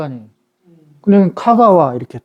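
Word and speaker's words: 香川: 그런데 이거는 또 천은 이제 가와라고 발음해요. 가와. 그런데 이건 향자잖아. 우리는 향천현 그럴 거 아니에요. 그냥 카가와 이렇게 또.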